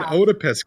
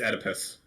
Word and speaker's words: Oedipus: they never heard of an otopist complex is how you pronounce it i think yeah i'm pretty sure it's oedipus all right then there